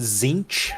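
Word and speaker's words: Tzeentch: that uh the next one I remember is zich did I pronounce that right I I pronounce it zinch with a an n in there zinc uh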